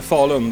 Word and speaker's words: Falun: Yeah, it's in Sweden, in Falun, the hometown of Sabaton. How do you pronounce the name of the town? Falun.